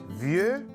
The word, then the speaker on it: vieux: Vieux a un X qui ne se prononce pas.